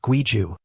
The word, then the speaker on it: 规矩: In Chinese, it's Guiju, pronounced Guiju.